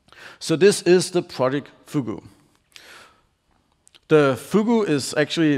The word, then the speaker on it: fugu: and by Microsoft so fugu if you don't know it's a Japanese word it's apparently pronounced of like googoo it's a pufferfish it's